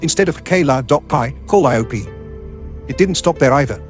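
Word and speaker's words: Calliope: what caught my attention was the way she pronounced it cop cop instead of KLA dop call IOP it didn't stop there either otherwise I would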